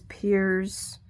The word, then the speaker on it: Piers: like that pronunciation, and Piers is still pronounced as Piers. In my mind, it's Perez. That's just me.